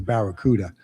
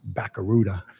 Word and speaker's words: Barracuda: the automobile came out, and it was the Barracuda, and we used to pronounce it Baccaruda.